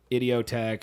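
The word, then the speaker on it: Idioteque: You know, dude, it is pronounced that way, but I realized the other day when I was listening to it, it says it's like idiotic.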